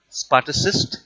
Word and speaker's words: Spartacist: the spa assist league it is pronounced as spartacist league grew side by side